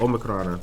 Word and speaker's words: Omicron: Omicron is how you pronounce it.